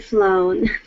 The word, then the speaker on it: flown: Town flown down then flown yeah flown which is the participle of the verb fly that one has more of an O instead of an ow sound all right Kevin read